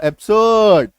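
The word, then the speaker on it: absurd: तो हमें क्या ध्यान रखना है, जब किसी शब्द में आर के बाद कोई कॉन्सोनेंट आ जाए तो आर का उच्चारण मैक्सिमम टाइम जो है वो साइलेंट हो जाएगा, आर का उच्चारण वहां पे करना ही नहीं है ना।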